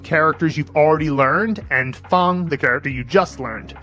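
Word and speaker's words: fāng: You'll use the Henzi movie method to remember that it means square, that it's pronounced Fang, and at this point, you'll be able to do this in about 15 to 20 seconds.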